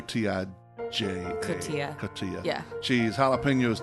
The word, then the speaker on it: cotija: Cotija cheese? Cotija cheese. I think I said it the wrong Yeah. way. I thought it was cojita, but I was corrected. I think it's cotija. Cotija.